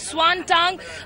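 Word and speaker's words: Xuanzang: the 6th century scholar one son or whom in fact the Chinese pronounces Swan tongue this place is always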